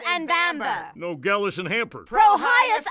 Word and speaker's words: Vambre: if it isn't my old pal's profanity and vulgar. It's pronounced Prohyas and Vambre, dear Niddy. Why does the Nedster have such trouble with our super simple names? Promotion and handle? Prohyas and Vambre.